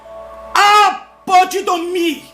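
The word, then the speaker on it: ἀποδίδωμι: Recompensa em grego, apodidomi, essa é a pronúncia, que significa entregar, abrir mão de algo que me pertence em benefício próprio.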